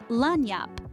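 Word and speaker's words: lagniappe: first up we have lenyap this word pronounced lanap is a little something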